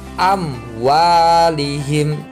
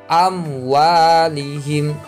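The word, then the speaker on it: أموالهم: gak jelas cara bacanya amwalihim enggak boleh am muali hitungan boleh harus dibaca jelas amwalihim selanjutnya lihim haqqon sama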